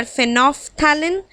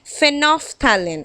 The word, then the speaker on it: phenolphthalein: Some artificial indicators are phenolphthalein and methyl orange. You have to notice the pronunciation. Phenolphthalein, I am not pronouncing the L.